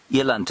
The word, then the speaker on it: eland: Eland, I suppose, is what I should be saying. Eland is the Afrikaans pronunciation. I got shouted at that by Mr. Graham Wallington yesterday evening, lest I be hauled in front of a disciplinary commission, I better say it correctly, Eland.